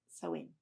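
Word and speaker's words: Samhain: Celtic end of Summer Festival called sewing and it's spelled s-a-i-m -h-i-m or something like something like that yeah it's not spelled the way it's spoken but it's Celtic right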